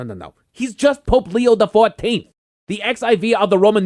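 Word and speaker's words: Leo XIV: The Pope goes by Leo the 14th. He's the 14th Pope to go by Shiv. No, no, no, no, no, no, no. He's just Pope Leo the 14th.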